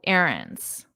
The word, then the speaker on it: errands: And notice my pronunciation? Errands. Errands. Very different from the spelling.